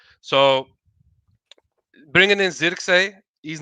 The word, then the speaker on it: Zirkzee: So that's a Zirkzee, you know what I mean?